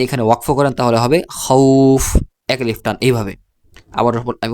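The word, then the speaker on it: خوف: তখন এক আলিফ টেনে পড়তে হবে যেমন আমি উচ্চারণ করে শোনাচ্ছি খ ওয়াও জবর খও ফা দুই পেশ ফুন খউফুন ওয়াকফ করলে খউফ এইভাবে ওয়াকফ করলে খউফ এভাবে পড়তে হবে এর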